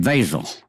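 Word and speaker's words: Wesel: They pronounced it Vazel. We pronounced it Weasel.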